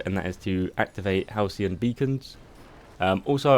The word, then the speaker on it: Halcyon: that has to activate Halcyon beacons also I pronounced that wrong in every other guide I call them helican so just ignore that